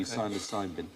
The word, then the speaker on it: psilocybin: But the magic mushrooms, psilocybin. So with a silent P, psilocybin.